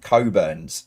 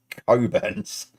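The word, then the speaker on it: Cockburn's: ice stands for Immigration and Customs what it's pronounced anounced coburns right they had this in running pubs for years okay it's coburns uh number four what is the name of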